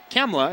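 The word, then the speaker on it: Khamla: and gets eight his first name is actually cemla it's spelled KH h a MLA but the team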